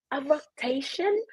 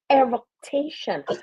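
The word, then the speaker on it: eructation: ma'am nobody would say a roation oh you said it wrong it's really eration nobody unless you're in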